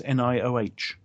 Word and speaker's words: Nioh: paor uh Neo noo how is that pronounced ninja game nia nia nia nioh they got a Nia ultimata is that it no no this is from Team ninja it's nioh um you know the old